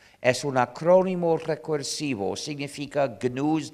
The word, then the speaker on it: GNU: Es un acrónimo recursivo, significa GNU's not Unix. Pero, y en inglés se pronuncia GNU, pero en castellano me han dicho que para ustedes es más fácil pronunciarlo como new, como si comenzara por ñ.